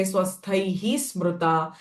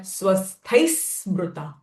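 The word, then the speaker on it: स्वस्थैः स्मृता: Here there is a visarga, swasthaihi smruta. But because after the visarga sound, sa syllable has come, and because of that, visarga sound will change to sa. So I'm not going to say swasthaihi smruta, but swasthai smruta.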